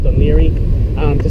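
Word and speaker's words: Laoghaire: no sorry nothing sorry there's a place called leary but jason was familiar with it because we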